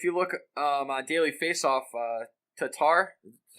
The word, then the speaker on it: Tatar: Well, if you look on Daily Faceoff, Tatar, that's how you say it? Tatar, yes.